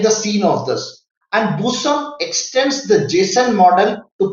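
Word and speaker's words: BSON: a busan what is a busan it is pronounced as busan what is a busan anybody tell me since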